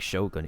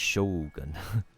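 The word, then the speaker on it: Shōgun: And like, it's not even like Shogun, it's Shogun. They have like an extra U that they omit, but they eliminate that for like, you know, Western pronunciations.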